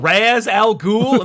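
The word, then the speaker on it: Ra's al Ghul: party scene just goes am i saying this right mr raz al ghul yeah no one is saying it right i know i know it is actually uh i've already written 18 comments saying that that razz is more is more uh correct like good for you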